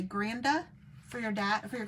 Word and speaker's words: Granda: You say Granda for your dad, for your grandpa?